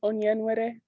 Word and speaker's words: Onyenwere: My last name is pronounced Onyenwere.